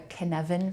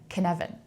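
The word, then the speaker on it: Cynefin: it talked about something called the Canan framework canvan and you spell that oddly it's a it's a it's a Gaelic word c y NE f i n Canan can and and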